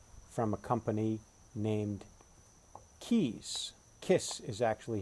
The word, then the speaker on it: Kaees: the landmark tank from a company named Keys kiss is actually how you pronounce it ke s Kiss Is How They